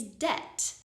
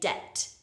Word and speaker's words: debt: funny spelling is Deb there is a silent B in the spelling of this letter but we do not pronounce it we don't say de we say debt imagine the B is not there it's completely silent debt debt another word